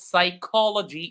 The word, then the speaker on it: psychology: So yes so the word is pronounced psychology indeed. Psychology the word psychology has a silent letter which is the letter P.